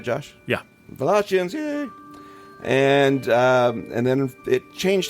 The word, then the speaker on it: Wallachians: Wallachians, yay!